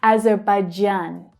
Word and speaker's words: Azerbaijan: Now, I always thought it was Azerbaijan, the j as in vision, not j as in jam. But there you have it. I was pronouncing it wrong. Azerbaijan.